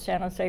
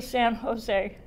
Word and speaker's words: San Jose: Then we come to San Jose. And if you've been here for many years, it became, instead of a 1-2 syllable, it became a 2-1 syllable.